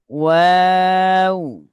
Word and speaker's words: واو: নুন, نون ওয়াও। ওয়াও, হুম, واو প্রথম টুটগুলো হবে, ওয়াও উচ্চারণের সময় প্রথমে টুটগুলো হবে, তাহলে ওয়াওটা উচ্চারণটা واو সুন্দর হবে।